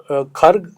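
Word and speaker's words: Kharg: पोहोचू शकत नाहीत जे खर्ग आयलँड आहे लोकल लँग्वेज मध्ये त्याला खरक पण म्हणतात त्याच जे स्पेलिंग लोकली बोलतात लोक ते खरक लिहितात के एच ए आर के आपण लोक त्याला खर्ग म्हणतो बर तिथल जे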